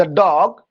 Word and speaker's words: the: तो कॉन्सोनेंट्स के पहले अगर है THE तो उसका प्रोनाउंसिएशन होगा दा। ओके स्टूडेंट्स, कॉन्सोनेंट्स के पहले अगर है, कॉन्सोनेंट्स के पहले तो उसका प्रोनाउंसिएशन THE दा होगा। जैसे द काउ, द डॉग, द man. Okay students, लेकिन अगर वॉवेल्स के पहले है, अगर वॉवेल्स के पहले है तो उसका प्रोनाउंसिएशन डी होगा।